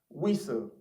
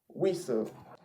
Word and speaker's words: whistle: Then another word there is Wistle, okay? Now that word has T in it, okay? So in the pronunciation, you would expect, or one would think that the T would be pronounced, but the truth is that T there is also silent. So the word is whistle, whistle. So that word is a whistle without a T, but it has T in it, but the T is silent.